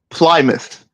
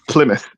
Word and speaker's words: Plymouth: And I said Plymouth, right? Instead of Plymouth.